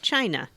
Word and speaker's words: Cina: about someone who wanted to name their child Ivy, and then the second name was spelled Cina, but pronounced China.